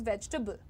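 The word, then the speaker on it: vegetable: वेजिटेबल the pronunciation is वेजिटेबल। Right? Veg stubble वेजिटेबल just three syllables veg stubble वेजिटेबल।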